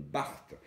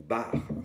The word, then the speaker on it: Bart: Et là, en l'occurrence, on a bu un Marsanais La Montagne 2017 du domaine Barthes, ou Bar, selon comment on veut le prononcer.